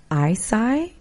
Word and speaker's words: Eisai: I mispronounced the name, Eisai, E-I-S-A-I. That's how you pronounce his name.